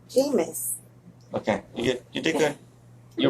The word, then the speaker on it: Jameis: Jameis. Okay, you did good. You rounded it up really nice. No. Okay. You mispronounced it twice in a row.